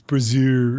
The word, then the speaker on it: brazier: They'd say it's brazier.